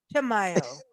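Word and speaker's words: Chimayó: Chimayo. Chamayo, Chamayo, Chamayo, Yeah. Chamayo.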